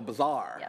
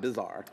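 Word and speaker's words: bazaar: z a a r oh it's like a bizar okay gotcha so bizar okay not bizarre but it is also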